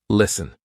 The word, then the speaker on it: listen: For example, S-T-E-N. Listen. We're not saying listen, silent T.